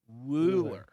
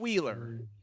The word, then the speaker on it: Wooler: Bueller, Wooler, Wooler. Wooler. Not Wheeler. This is not Wheels.